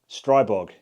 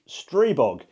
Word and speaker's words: Stribog: said Stribog this time At the start of the video, I said, Stribog But apparently, it's Stribog I blame me being an Englishman and all pronouncing my "I s" as an I and not an E.